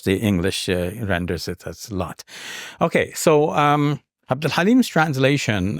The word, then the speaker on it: Lot: And his name is pronounced lut in Arabic and lot in Hebrew. And of course, the English renders it as lot.